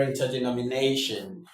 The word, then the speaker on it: interdenominational: under rain ter de no me na tion under interdenominational under interdenominational That is how to pronounce this word in terms of stress.